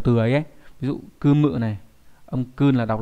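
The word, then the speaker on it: 組む: Ví dụ kumu này, âm kun là đọc là kumu, có nghĩa là gì nhỉ, có nghĩa là lập ra, lắp ghép.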